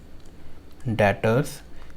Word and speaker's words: debtors: डेटर्स, इसकी spelling में pronounce कर रहा हूँ DEBTORS। डेटर्स बोलते हैं इसे, डेटर्स।